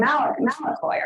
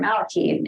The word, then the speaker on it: malakoi: like man beds, is the word malakoi or malaki in the contemporary Greek pronunciation, which is a word